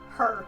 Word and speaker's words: Hur: Her. H-U-R. Well, I've never heard that name before, but Yeah. How do you spell that again? Her. H-U-R. H. Her. Like hurry.